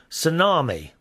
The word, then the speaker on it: Tsunami: This is quite an honour, Suko says, and a rock band called Tsunami, which is pronounced just like the tidal wave, who will be performing at the Olympics in Beijing.